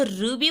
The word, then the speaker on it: ऋ: पर लगाते हैं कि नीचे लगाते और इसका उच्चारण जो हो उन्हें जी की थे तभी हम कभी-कभी हम इसको रूबी पड़ते हैं तब हम इसको री बोलते हैं